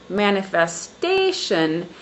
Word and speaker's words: manifestation: On the second word, manifestation, the syllable stress is on the fourth syllable.